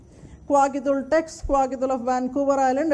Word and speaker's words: Kwakiutl: is pronounced as Kwakiutl written as u TL pronounced as Kwakiutl Kwakiutl tex Kwakiutl of vancouver